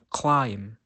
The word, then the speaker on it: climb: is the letter B the letter B is always silent when it comes after the letter M for example Climb come now the letter